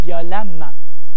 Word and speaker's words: violemment: C'est quand c'est E-M, on va dire violemment. Alors, il vient du mot violent, E-N-T, l'adjectif violent. Violemment, E-M, même si on prononce violemment.